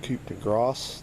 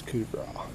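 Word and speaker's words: coup de grâce: If you look at that word spelled out, it says like coup de grace. That's not how you say it. That was coup de grace.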